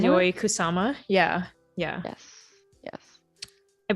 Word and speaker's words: Yayoi Kusama: Yayoi Kusama? Yayoi Kusama.